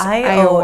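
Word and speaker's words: Ioah: Yeah, it's spelled I-O-A-H, so I'm guessing it's pronounced Iowa.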